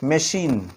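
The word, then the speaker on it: machine: তো এক্ষেত্রে মনে রাখবে সি এর পরে এইচ বসলে যে শব্দগুলো ফ্রেঞ্চ শব্দ থেকে আসবে সেই শব্দগুলিতে আমরা সিএইচ এর একসঙ্গে শয়ের মতো সাউন্ড পাবো।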